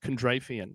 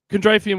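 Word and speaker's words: Kondratiev: That man's name, I believe, is pronounced Kondrafian.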